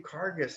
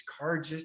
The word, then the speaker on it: Carges: spell your last name kargis c-a-r-g jess you've been letting me mispronounce that's embarrassing dude i've been calling you carcass it's car just no it's not you